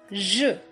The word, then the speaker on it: je: je su means i Xue Xue is pronounced as sure in measure measure sure okay the next promise